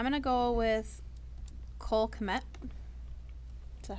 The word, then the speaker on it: Kmet: I'm going to go with Cole Kmet.